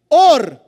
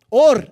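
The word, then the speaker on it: עור: Fez Adonai Deus quitonet or para Adão e sua mulher. Túnica, vestimenta de pele. Or é pele. Engraçado, né? Or é a mesma pronúncia de luz.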